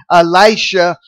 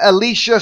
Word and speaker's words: Elisha: Israel and the king of Israel is blaming Elisha for This calamity then in verse one of chapter 7 we read then Elicia said or Elisha however you want to pronounce